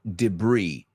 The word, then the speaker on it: debris: Little particles of glass and debris. Debris es basura, escombros, trozos de basura pequeñas. And debris, se escribe debris, pero la S es muda.